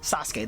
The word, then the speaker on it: Sasuke: do you pronounce no how do you actually pronounce Sasuke Sasuke there we go Sasuke hey and it's Sasuke